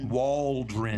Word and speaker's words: Waldron: You have to say it slow. You can't say Waldron.